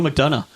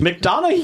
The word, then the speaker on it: McDonough: Neil McDonough.